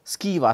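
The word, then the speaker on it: schwa: of the Vel space a neutral mid Central Vel occurring in many unstress syllables in English is known as the ska so ska is another thing which is the the a in about or sofa is a ska sound so what are these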